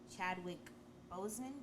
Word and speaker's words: Chadwick Boseman: Yes, Chadwick Boseman, did I say his name right?